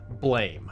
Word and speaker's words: BLAME!: impression upon me as blame and yes I know it's supposed to be pronounced Blom like the sound effect of a gunshot but we didn't have